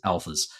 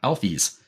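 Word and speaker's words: Alphys: when I read it that the characters pronounced alfies when I first played it I've read it as Alphas um interesting yeah I always said Alphas too yeah uh alies ales is apparently the uh actual uh pronunciation of uh Al's name um another thing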